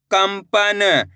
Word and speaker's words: कंपन: कम अनुस्वार की मात्रा कम प न तो मिलके बन जाएगा कंपन इस शब्द के अंदर भी अपन ने आधा मा का उच्चारण करा है सन सा र संसार